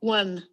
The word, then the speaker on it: one: बहुत बच्चे इसको वॉन बोलते हैं. वॉन नहीं है ये. Okay? हाँ, इसकी प्रोनाउंसिएशन देखो आप अच्छे से. सुन रही है? One. Yes, ma'am. One, not one. Okay, it's one.